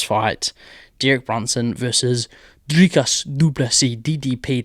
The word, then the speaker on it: du Plessis: Derek Brunson versus Dricus du Plessis, DDP. The S is silent.